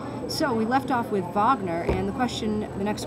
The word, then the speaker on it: Wagner: century composers I said we left off with Vagner that's rard Vagner spelled like Richard but it's actually rard Vagner what